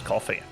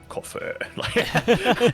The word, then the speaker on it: Coffee: little turn it is coffee coffee cof yes it is I almost for as soon as I said his name I was like Cofer I remembered how to say it properly you know yeah you